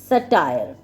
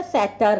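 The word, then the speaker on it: satyr: सटायर कह लो या सैटर कह लो। ठीक है? मतलब एदी प्रोनाउंसिएशन ज त Google पे सर्च करोगे ना बड़ी डिफरेंट-डिफरेंट है। ठीक है? सेटर सटायर ठीक है कुछ भी कह लो मैं सेटर कह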